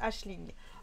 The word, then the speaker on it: Aisling: Alors, je sais, c'est marqué Ailing, mais en fait, au tout début du livre, elle explique que ça se prononce Aisling. Alors moi, comme j'ai lu le livre, je me la pète un peu, je prononce ça Aisling.